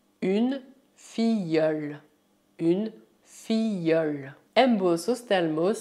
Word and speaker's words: filleule: Tal como acontece com as palavras une famille et une fille, você deve imaginar que o duplo LE é Y.